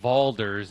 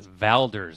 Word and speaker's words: Valders: First of all, guys, it's not Valders, it's Valders. All right, say it right.